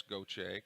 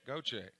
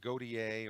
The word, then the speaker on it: Gautier: done their homework if they pronounce goche goje there's a strike they haven't done their homework if they'll say godier or some other weird pronunciation g-a-u-t-i-e-r go-che big leads for both